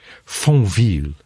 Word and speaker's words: Fontvieille: And while wandering around Fontvieille Harbor Is it pronounced that? Did he Did you say Fontvieille Harbor? Fontvieille.